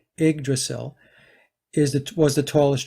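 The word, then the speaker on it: Yggdrasil: uh it's pronounced the igdrasil but it's spelled y g g d r a s i l but pronounced IG the Y is an i igdrasil is the was the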